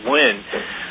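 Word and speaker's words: Nguyen: The other interesting thing is um CBS uh news broadcaster Betty actually it's it's no she pronounce it win.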